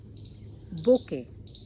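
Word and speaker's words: bouquet: I said बोके।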